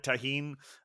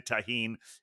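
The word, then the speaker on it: tahini: bartender called it tahine. I think if it's spelled with a G, it's pronounced tagine, but if it's with a J, it's tahine.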